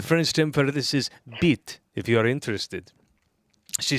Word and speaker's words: bite: The French term for it is bite, pronounced beat.